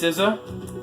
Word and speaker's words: SZA: Alright, if you guys don't know, it's pronounced SZA.